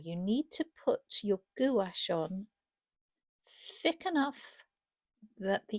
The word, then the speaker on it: gouache: and the correct way of pronouncing it is gash. It is spelled it looks like it's gash. And I have to say I say gash.